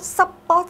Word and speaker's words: support: vậy ông thứ hai lấy trọng âm của từ này sẽ Nhấn vào âm tiết thứ 2 thì cái ông đầu